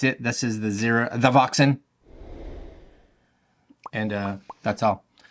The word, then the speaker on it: THEVOXN: I will leave links to where you can take a look at THEVOXN, because you have to say it like that, THEVOXN, down below in the description.